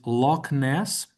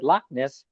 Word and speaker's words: Loch Ness: I would give that H uh some play lness, you know.